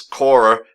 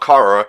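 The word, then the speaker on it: Quorra: idiot but hey she is Cora not Cara I called Cora from large inner core Cara for so long until I was like you know I got to rewrite my brain memory biology and pronounce it the right way yeah but I can see how you think that it would have been Cora because it is spelled sort of like Cora yeah yeah whereas Cora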